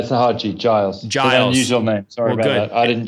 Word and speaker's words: Giles: your name is it a hard g on the front or is guile's right uh sahaja yogi giles sorry about that i